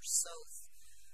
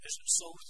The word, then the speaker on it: Soth: We get pretty unambiguous testimony from both of the officers, Ellebrecht and Soth, is that how you pronounce it? Soth, yes.